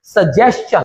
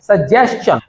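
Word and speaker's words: suggestion: Next है, अब इसके कुछ एक्सेप्शंस, TION वर्ड के बिगिनिंग में अगर कहीं एस आ जाता है, यानी TION के पहले एस आ जाता है, तो TION का प्रोनाउंसिएशन शन नहीं होगा, तब इसका प्रोनाउंसिएशन चन होगा।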